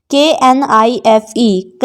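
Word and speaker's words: knife: हैं की साइलेंट है नाइफ नाइफ नहीं पढ़ते हैं इसको नाइफ पढ़ते हैं क्योंकि के इनमें साइलेंट होता है एन से पहले का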